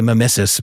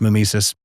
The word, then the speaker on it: mimesis: Consciousness to reality okay uh some people say msus but it's usually pronounced Mimis um let me give you an example of